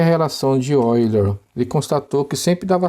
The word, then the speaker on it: Euler: Relação de Euler. É assim que se escreve, ó, e se lê Euler, porque ele foi um matemático suíço.